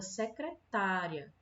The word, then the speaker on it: secretária: na palavra secretaria Secretaria é diferente da palavra secretária certo na palavra secretaria Dá para perceber que a sílaba mais forte a sílaba tônica é um